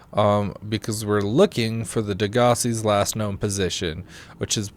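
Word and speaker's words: Degasi: I've heard it pronounced like 4 different ways. I call it Degassi. Yeah, I think it's pronounced Degassi. Degassi. But I can also see Degassi as being a proper one.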